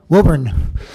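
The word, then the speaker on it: Woburn: anybody here from Massachusetts so how do you pronounce the name of that town wurn okay so wurn Massachusetts and this is a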